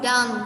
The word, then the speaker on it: dumb: Okay, so look at this word we call dumb. We didn't call dumb. No, we didn't pronounce like this because the word or the letter B is a silent sound.